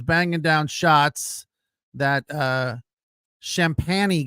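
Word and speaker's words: Champagnie: down shots that uh champany guy I think that's how you say it champ champagney champany it looks like champagne with an i at the end uh that guy was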